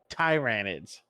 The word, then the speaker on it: Tyranids: we're gonna call them tyranids Ty my bad tyranids as they're actually supposed to be pronounced and they are first